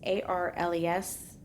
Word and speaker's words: Arles: That is Arles. I'm going to do my best with the French pronunciation of all of these frickin' places. Paris is the easiest one on the list.